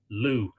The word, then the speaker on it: Lug: That's spelt L-U-G, but pronounced Lugh, and Lugh gives his name to the Irish county of Louth, which is the county that I live in.